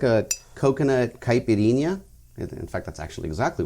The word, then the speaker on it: caipirinha: And I like how you pronounce it because I think I'm saying it wrong. Caipirinha? I always say caipirina. Oh, that's the most common way.